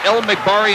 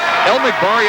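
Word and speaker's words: El Magbari: El McBari at the line. His free throw is no good. His last name is spelled E-L-M-A-G-B-A-R-I. Faraj El McBari, a 6'4 sophomore.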